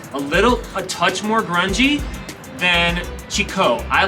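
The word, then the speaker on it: Chicó: I am in the neighborhood called Chico, which looks like Chico, but it's actually pronounced Chico with an accent on the O.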